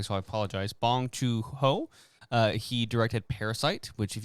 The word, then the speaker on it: Bong Joon-ho: It is directed by, and I'm going to, not pronounce this correctly, so I apologize. Bong Joon-ho.